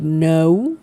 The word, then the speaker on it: no: In English, no, the pronunciation of no is more like no, like the O is a little long. In Spanish, is not that long.